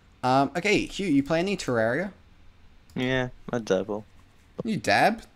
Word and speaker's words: Terraria: You're a bit of a Terrarium? Terraria. You're a bit of a Terraria, as the professionals say. That's supposedly how you meant to pronounce it. That is how you're supposed to say it.